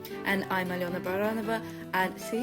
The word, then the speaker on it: Baranova: 3 and I'm ala baranova and see you said my surname correctly for baronova I never pronounce it in the Russian way I was pronounced in the British way and I romance Shadow